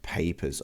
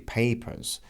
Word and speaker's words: papers: And then we've got papers over here. In my Australian and in British accents, the R is not pronounced, so it would be papers. But in North American accents, it's papers.